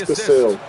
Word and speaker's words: Cassell: Okay, so they pronounce it. It's Cassell.